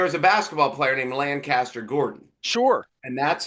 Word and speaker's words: Lancaster: We have this whole Tommy Conwell thing coming up here in Lancaster, not Lancaster. It's Lancaster No, in Buffalo.